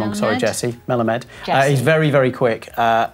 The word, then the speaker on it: Jesse Melamed: champion I always sorry Ino Ino uh Jesse mamade i' say his name I'm sorry Jesse melamed he's very very quick uh and that's because